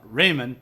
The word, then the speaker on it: Riemann: He comes on and I was calling him Riemann the whole time, and finally, like halfway through the show, the first time he was ever on, he's like, "Well, actually, Skunk is pronounced Raymond," and I'm like, "Well,